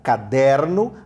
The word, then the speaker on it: caderno: Caderno, a sílaba pronunciada com mais força é o der, caderno.